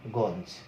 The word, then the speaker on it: গঞ্জ: এখানে কিন্তু গঞ্জ বানানটা দেখবে যে ইও জ দিয়ে লেখা আছে, কিন্তু এর উচ্চারণটা কেমন, উচ্চারণ হচ্ছে দন্তন্য গঞ্জ।